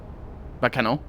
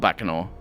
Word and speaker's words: Baccano: in all that's not bakano it's pronounced b it's not like baka no as in idiot but like backer uh it is uh